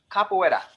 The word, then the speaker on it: capoeira: Capoeira, and pronounced capoeira.